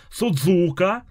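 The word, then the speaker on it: すず香: тут имена имена О'кей судзука ударение перво а суд я сразу ошибку допустил судзука судзука ударение на первый у ну блин мне уже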